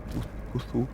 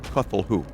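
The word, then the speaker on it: Cthulhu: Kufu. I I used to think it was pronounced kthulhu or kulhu or something.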